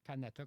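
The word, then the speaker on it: Kanata: Canata comme ça se prononce mais avec un cas Canata, il y a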